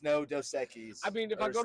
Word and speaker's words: Dos Equis: Because every time I go to a bar and I'm like Dos Equis, because that's how you would that's the Spanish pronunciation. That's the Mexican pronunciation.